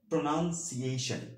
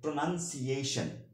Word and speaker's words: pronunciation: American ইংলিশে এটার সঠিক উচ্চারণ হবে হচ্ছে প্রোনাউন্সিয়েশন। ওকে, প্রোনাউন্সিয়েশন।